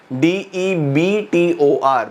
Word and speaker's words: debtor: D-E-B-T-O-R Many children read debtor. No children. B is silent in this.